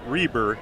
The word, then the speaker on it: Reber: It was you mentioned Nathan Reber is the way you pronounce that.